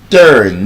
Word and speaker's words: turn: Pronounce this words correctly. Burn. Turn. Not turn. You don't turn to the right or turn to the left. You turn. Long sound. Again, there are patterns. You are in a word. Burn. Turn. Urge. Search. You are in the word. They are patterns. It's not Thursday. Thursday sound. Thursday.